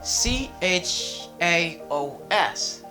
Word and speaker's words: chaos: word we have is c h a o s we say kiss okay we say chaos something that is not in order i see chaos k k k s after the word kills